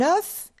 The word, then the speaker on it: œuf: no des EAU unf la lettre F est prononcée au singulier au pluriel bravo des le F n'est pas prononcé au pluriel un os des os un œuf des ufs un œil là un